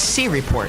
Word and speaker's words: C Report: Sorry, C Report. I've learned the C Report, yes. The correct way to pronounce it. It's C Report.